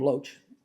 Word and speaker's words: LOH: is the L which very rapidly got the name loach for pronouncing loh and that's what the